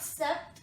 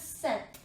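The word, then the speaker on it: sept: 2002 ah son please set now you will note that the letter P is not pronounced instead T is pronounced so this is not step this is self we know these this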